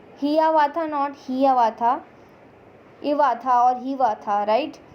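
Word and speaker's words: Hiawatha: Hivatha जो है, अब बोलो कि मैम हियावाथा है, एक्चुअली प्रोनाउंसिएशन जो है उसका वो क्या होगा, हिवाथा.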